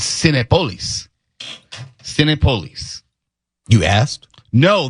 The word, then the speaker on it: Cinépolis: I called it Synopoulos. It's Senate Police.